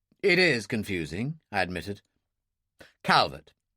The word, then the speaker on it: Calvert: Calbertt. Phillip. Calbertt. Well, Phillip, she pronounced it the French way, and very nice it sounded too.